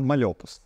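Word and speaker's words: Mal'Opus: далі Це дуже весело це навпаки але правильно мальопус от мальобу саме от з таким наголосом тепер стосовно вашого Інстаграму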